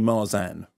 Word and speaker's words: Marsan: Lee was right but we were told officially by your people that it's Mars and like Tarzan now it's my sand as the Bioman says Mars and because the will the East Enders can't say Mars on but it's Marsan and what do you say I say I say marsan unless I get angry then and then I turn east and then I say Mars and so they're both ok yeah they're fine and